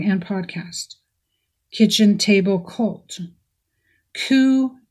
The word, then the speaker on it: Ku: podcast kitchen table cult coo and the gang ku is spelled k-u last pod on the